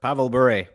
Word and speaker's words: Pavel Bure: Pavel Bure.